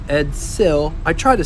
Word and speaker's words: Edsel: Edsel, not Edzil. Edsel.